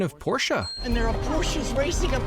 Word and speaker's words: Porsche: for your wish before yesterday a porsche correct pronunciation of porsche and their approaches racing up and down the street porsha why for once can they just have this